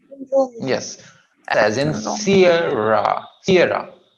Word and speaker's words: Sierra: Sierra. CA first syllable थोड़ा लंबा खींचेंगे. रा को छोटाएंगे. S as in Sierra.